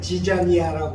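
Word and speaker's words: ζιζάνια: 이 가라지는 그리고로는 지자니아라고 그래요. 지자니아. 우리 한국말 지자 있잖아요. 지자. 비슷하게 발음이 되는데 마태만 이 씨 뿌리는 비유에다가 가라지 비유를 묶었어요.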